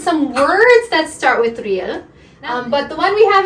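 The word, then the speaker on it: 리을: So Ryul is going to be similar to an R, but we pronounce it a bit differently when we use the Korean sounds.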